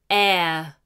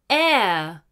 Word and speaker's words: heir: apart from other people air air note we do not pronounce the h an heir is someone